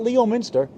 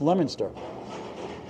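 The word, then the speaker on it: Leominster: lemoner Mass's whole life it's not Leo Minster it's pronounced lemonster 111 111 League average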